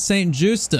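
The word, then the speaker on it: St. Juste: Oh, it's St. Justa.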